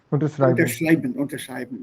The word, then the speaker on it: Unterschreiben: Unterschreiben. Ja. Yes, sir. Put the stress on the second one here, Jayant. Yeah, on this one.